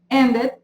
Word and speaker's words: ended: Then we have, for number 3, the infinitives that end in D or in T, we pronounce the E as an I.